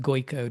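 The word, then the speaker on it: Gojko: Um, and he does pronounce it Goyo despite the we wouldn't look at it and think it was Goyo.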